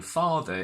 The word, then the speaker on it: father: and and funnily enough the r in father is silent because it's not followed by a vowel mother and father what